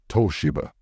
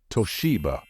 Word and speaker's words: Toshiba: pronounce this Japanese brand many non-native speakers tend to pronounce this word as Toshiba however in English the stress should fall on the second syllable and it should be pronounced as Toshiba be careful he offered